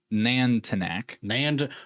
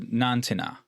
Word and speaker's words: Nantinaq: And it's about well I'm going to say the wrong way to say this name which is Nantanak. Nanak Nantac. Um but in according to how you're supposed to pronounce this it's called uh Nantina is what it's called.